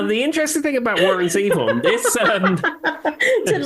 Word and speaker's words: Zevon: Zevon.